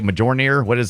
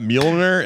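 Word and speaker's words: Mjölnir: How do you say Majornir? How do you say the Thor Hammer of Thor? I don't know. Majornin? Are you talking about Mjolnir?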